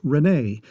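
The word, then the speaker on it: René: for a mal home my first name would have been pronounced Rene before the language reform dropped all accent marks from earth tongues considering your background Mara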